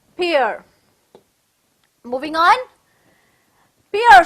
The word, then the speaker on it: Pierre: is pronounced as pure like how you do dear it's pronounced as peer moving on pierre says